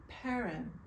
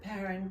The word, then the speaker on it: Perron: a wonderful man and his name was he pronounced it parin and so I pronounced it parin but everyone who looked at the name pronounced